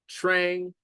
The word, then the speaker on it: Trang: I was like like okay Trang rhymes with Ang so I was like